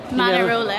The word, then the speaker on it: Manarola: So, we have just got off the train in a place called Manarola. You don't have to say it like that. Manarola.